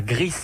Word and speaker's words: Gris: bien on joue à gries alors ça s'écrit gr i s gris comme la couleur donc mais en prononce le s car c'est de l'espagnol greece a été créée par